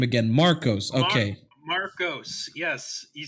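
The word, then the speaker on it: Markos: You had it right the first time, and you still said Markov. I don't know. I thought I said it wrong. Oh my god. Let me look at the name again. Marcos.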